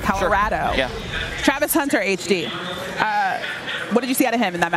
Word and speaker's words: Colorado: this week already yeah that's how you say it that's how they say it that's how local say it Colorado Travis Hunter HD uh